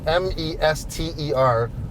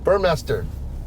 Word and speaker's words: Burmester: it's it's it's it's master mes ter is not mei st ER really yeah I've been saying everybody knows how to say it as if he said my sound make a comment I think it's burn motor oh you're right yes M there's right up there your master Burmester uh-huh I don't think